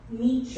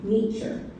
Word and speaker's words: Nietzsche: Friedrich Nietzsche is how you say that last name. Nietzsche.